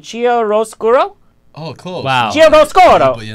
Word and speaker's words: chiaroscuro: the set of, please help me with the pronunciation, Chiaroscuro? Oh, close. Wow. But you know, chiaroscuro.